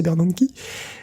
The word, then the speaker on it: Bernanke: On se souvient du scandale du projet Bernanke, bien protégé, voilà, c'est Bernanke, mais bien prononcé Bernanke.